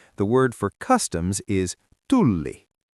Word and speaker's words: Tulli: You have to stretch that L. Tulli. Student, try tulli. Tulli. Exactly. If you say tuli at the airport, they think you're shouting fire. If you say tulli, they know you are looking for the customs desk. Length changes the meaning completely.